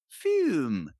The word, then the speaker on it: FÜM: But, it's pronounced like our friend Plume over in Norway, Fume.